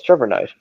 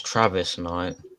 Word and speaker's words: Travis Knight: no, it's Trevor Knight. Yeah, Trevor Knight. Pretty sure it's Travis Knight. Travis Knight. Travis Knight. Travis, thank you.